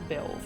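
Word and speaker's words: Beoulve: Pronounced like Beowulf, okay.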